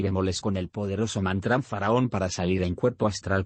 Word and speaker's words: Faraón: Todo el mantrán Faraón se divide en 3 sílabas así: Faraón. El Fa es de la escala musical. El Ra es como un sonido grave, se debe vocalizar con un doble R.